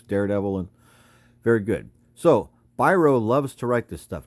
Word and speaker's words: Biro: says Charles byro and you might think that says Bureau but it's pronounced Biro Charles byro and Bob